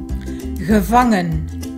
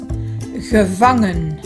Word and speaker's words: gevangen: Gevangen. Gevangen. Gevangen. Gevangen. Từ này nó được nhấn ở âm tiết giữa phong. Như vậy hai chữ e màu xanh đều là stomme e.